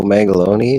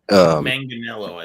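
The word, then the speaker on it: Manganiello: has a foreword from Joe Mangaloni in the front. Manganello, isn't it? No, I like Mangaloni. My version. No, I'm playing. I said it wrong.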